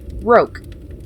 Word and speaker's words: roque: side is wood come out you little it's pronounced Rogue Daddy was saying I'll teach you how to